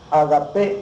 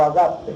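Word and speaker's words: ágape: de corazón le llamaron agapé o agape como se quiera pronunciar palabra griega que significa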